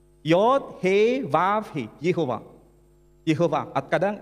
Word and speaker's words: Yehovah: Sementara bahasa Ibrani, pronunciation-nya Yod, He, Vav, He, Yehovah. Yehovah, kadang Yahweh.